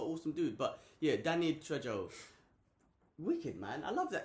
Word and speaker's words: Trejo: Trejo.